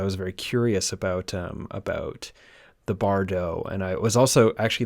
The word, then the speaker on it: Bardo: Not only is it the Bardo, and thank you for the correct pronunciation, not only is it the Bardo that